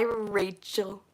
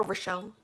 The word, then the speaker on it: Rachel: It's pronounced Rachel.